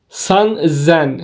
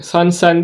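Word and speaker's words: 三千: diye başladık nen 2000 San Zen san sen değil de burada bir s'nin üstünde bir işaret var şurada bu bu harfi Z'ye dönüştürüyor sanzen D aynı yonen Go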